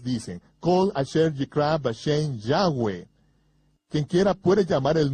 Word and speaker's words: Yahweh: Yo pronuncio su nombre Yahweh. Josefo dijo que había 4 vocales sobre la mitra del sumo sacerdote, Yod, He, Va, He, que son pronunciadas como vocales en un solo respiro, Yahweh, fluido Yahweh.